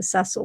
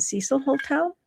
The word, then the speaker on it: Cecil Hotel: I'll be I I keep forgetting the proper pronunciation of that hotel. I've I look at and would say the Ceil, but I think it's the Cecil Hotel.